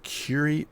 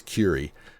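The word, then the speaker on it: Kure: is the incorrect pronunciation, the reason I'm saying it like that is because that's how our beach name is said. It's Curie. Now, this may actually be Cure. I don't know. We're going with Curie. Just know that if you think that's incorrect, it's probably because it's the southern Japanese pronunciation.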